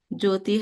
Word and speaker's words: Jyoti: And Jyoti can be spelled with different Joti. Here H is silent.